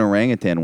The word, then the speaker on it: orangutan: before yeah orango yeah I pronounced the g at the end but there's no G uh there's orang utan yeah yeah yeah it